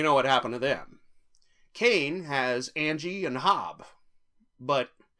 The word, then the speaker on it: Kane: Yes, his name is Kane, as in, and Abel.